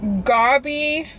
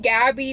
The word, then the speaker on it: Gabi: had before i forget how to pronounce their name gobby i can't i don't know what that accent is but it's gabi gabby with little two dots over the a coffee and bakery off